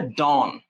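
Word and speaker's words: dawn: সো এই যে এটার উচ্চারণ হচ্ছে ডন।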